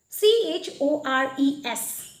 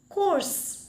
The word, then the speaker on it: chores: C-H-O-R-E-S. Course. Ami sobe jano eto course boli. But that is wrong. It should be, the correct pronunciation is chores.